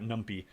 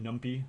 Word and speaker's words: NumPy: or wants to comment i've always pronounced it numpy because it's number pi python but so i guess it should be uh pronounced numpy for python but it sounds better if it's numpy right all right let's go